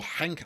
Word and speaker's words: Genk: And that emerging force are Racing Genk, or Henk, I think, as they call them in Dutch-speaking Flounders, but it wouldn't be the first time I've butchered a pronunciation in a League Lowdown episode.